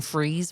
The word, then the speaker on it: Fries: the first place in Freeze, Virginia, spelled like fries.